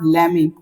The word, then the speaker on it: lemme: ले मी।